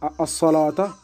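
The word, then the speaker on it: الصلوة: Et ce waw-là, on ne le prononce pas, tout simplement. On allonge comme si c'était un alif dans l'écriture hors coranique.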